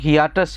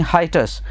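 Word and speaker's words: hiatus: हाइटस जो word है इसको एक तो बहुत से लोग हियाटस बोलते हैं या हियाटुस बोलते हैं, तो इसको हम प्रोनाउंस करते हैं हाइटस।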